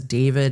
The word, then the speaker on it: D4vd: to get confusing, so I'm just going to refer to him as David, even though it's spelled D 4 V D, it's going to make it easier.